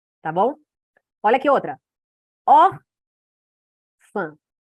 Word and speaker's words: órfã: órfã. A sílaba mais forte é essa.